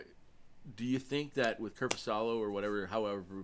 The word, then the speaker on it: Korpisalo: But do you think that with Korpisalo or however we pronounce his name, I have a hard time. Korpisalo, yeah, I think you got it close enough. Korpisalo, I believe, is how you say it.